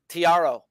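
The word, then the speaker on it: Thairo: Tiaro. Yeah. Tiaro.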